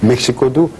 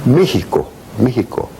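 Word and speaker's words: México: 멕시코도 멕시코가 아니지. 아. 메히코. 휘 발음 나나요? 네, X를 갖다 히로, 메히코. 메히코.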